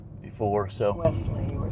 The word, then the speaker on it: Wellesley: Wesley, you were saying West. Oh, I'm sort of. Wesley.